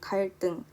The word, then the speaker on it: 갈등: 첫 번째 예시 갈등. 갈등은 여기에 리을이 있기 때문에 뒤에 있는 쌍디귿으로 발음이 나고 있습니다.